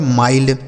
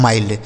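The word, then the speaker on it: mild: एम आई एल डी एम से हो गया दोस्तों म इस आई का उच्चारण आई एल से आधा ल और डी से ड ये लिखा गया आपका माइल्ड क्या लिखा है माइल्ड ठीक है तो आई के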